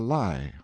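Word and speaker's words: Lei: Laura, two syllables, was a water nymph who used to sit on a high rock called the lie, or lie, pronounced like our word lie, in the rine, and lure boatman to destruction in a furious rapid, which marred the channel at that spot.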